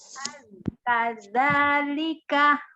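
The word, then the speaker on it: كذلك: Kadzalika, Kadzalika. kadzalika. Pengucapan huruf zalnya tidak disiddah, tidak dikuatkan, tidak za begitu, dia tetap lembut.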